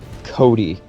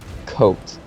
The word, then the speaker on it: Cote: this wrong all right John's last name is pronounced Cody not coat yes very important it's